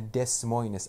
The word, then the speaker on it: Des Moines: knew nobody in iowa i even didn't know how to pronounce des moines correctly i didn't know those two s's are extra i i just googled